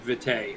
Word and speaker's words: vitae: a glossary section with pronunciation and it is pronounced vitae according to uh the vampire book yes and